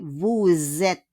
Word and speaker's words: Vous êtes: Le S will become a Z. Change it with Z, okay? Vous êtes. And we don't pronounce le S à la fin.